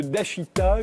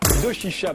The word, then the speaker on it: Doshisha: Attaché à l'université de Dashita, je l'ai bien prononcé. Doshisha, pardon, à Kyoto, au Japon.